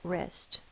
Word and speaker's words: wrist: I hurt my wrist let's sound out wrist is R is the W WR i s t Clos syllable one vowel followed by one or more cons s it is closed the vow is short I wrist the next word is